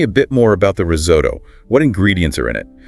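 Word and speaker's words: risotto: And pronunciation that pasta dish. Ah, risoto. It's risoto. Risoto.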